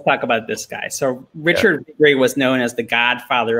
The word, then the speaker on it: Richard Viguerie: Richard Viguerie.